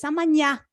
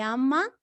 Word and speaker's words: amanhã: A gente apresenta, então, que o NH é o equivalente ao NI, como amanhã, não é amanhã, meus queridos, é amanhã, como se fosse esta pronúncia no espanhol, nha.